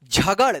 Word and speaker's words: झगड़: झगड़, देखिए ड़ उच्चारण अगर आता है ना, ड़ और ड, ठीक है, तो यही है ड़ ड़ ड़ और र। देखिए इसमें ध्यान रखिएगा फर्क, ड़ ड़ ड़ इस तरह से आएगा ड़ ड़, तो ये